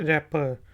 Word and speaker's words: wrapper: तो स्पेलिंग है WRAPPER, तो इसमें W साइलेंट है, रैपर, लपेटने वाला, रैपर।